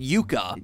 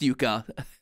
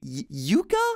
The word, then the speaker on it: yucca: mixed bag of Taro sweet potato batata and yucca yeah it's pronounced Yuka I looked it up it came as a